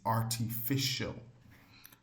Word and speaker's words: artificial: This this word c l e will normally have that co while c i a l would normally have the pronunciation of show.